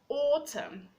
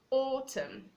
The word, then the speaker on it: autumn: We have autumn, autumn. The N is silent.